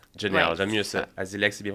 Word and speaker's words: Asilex: ça directement ser jamais Janel Janel Janel mieux azilex c'est bien prononcé non azilex AZ on commence le podcast comme ça aujourd'hui